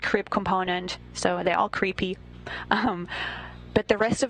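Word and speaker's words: KREEP: weird component that we call creep and it's spelled k r e e p and Central potassium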